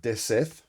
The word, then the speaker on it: DeCETH: This is, I believe it's pronounced DeCETH. And I'm not saying DeCETH, I'm going K, hard K sound, DeCETH.